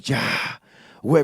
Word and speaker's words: Yahweh: Dios en en hebreo es Yahweh y dice que es el nombre nosotros lo lo pronunciamos ya güey cuando respiramos desde que